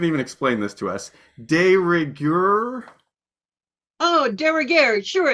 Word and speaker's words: de rigueur: De rigueur?